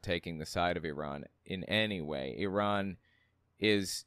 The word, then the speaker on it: Iran: especially with Iran uh where it's Iran that's how it's pronounced Iran does this guy know